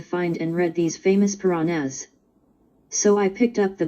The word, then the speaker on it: Puranas: these are the Piranhas add note pronounced purana puranas but I've been looking